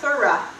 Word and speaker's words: thura: It's pronounced Thureos. It originates from the root word, are you ready? For thura.